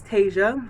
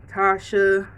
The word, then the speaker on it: Tasia: But no, my real name is Tasia, like Fantasia. This is how you spell it. I'll put it on the right here. It's spelled different. The way it's spelled, I always get Tasia, Tasha, Tasia, Taji. It's Tasia, like the movie Fantasia, or like the famous R&B singer Fantasia.